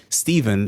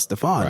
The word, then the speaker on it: Stefan: they would pronounce it Alexander instead of Alexandre, and they would say Stephen instead of Stefan.